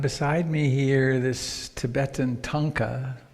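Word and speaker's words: thangka: me here this Tibetan tonka tha ng ka there's pronounced it's the audiovisual component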